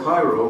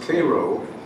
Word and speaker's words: Cairo: We stopped in what I thought was called Cairo, but it's pronounced Cairo, Illinoisian for Cairo, the southernmost town in the state.